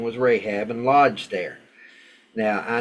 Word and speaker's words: Rahab: specifically hers so a prostitute with the name Rahab or actually it's pronounced Rahab R and Lodge there and it was told